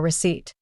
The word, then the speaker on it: receipt: in Gnome or sign the silent p in Psychology or receipt here are some tips